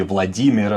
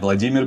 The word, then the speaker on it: Vladimir: So, in Russian would be Vladimir, like the stress would be different. That name also gets modified. Vladimir becomes what?